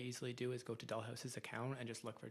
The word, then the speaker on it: Doll Haus: Online to um on Instagram at Dollhouse Events, but it's spelled the gayway. D O L L H A U S Events.